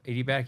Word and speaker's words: adiabatic: I don't know how to say the word adiabatic yep yep adiabatic you got it yes so we also have